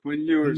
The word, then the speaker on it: Quinn Ewers: How do you pronounce it? Quinn Ewers, baby.